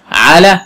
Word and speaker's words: على: احسنتي، على حرف جر. حروف الجر ثمانية تمام. من وإلى، عن وعلى، في والكاف والباء واللام على حرف جر، وأيضا آخرها ألف لينة. آخرها إيه؟ ألف لينة. تنطق ألف وتكتب ياء، تنطق ألف وتكتب ياء.